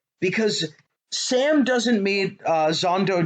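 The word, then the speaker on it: Xhondo: sam doesn't meet uh zando daru uh i believe is how how it's pronounced in the audiobook zondodoru does not meet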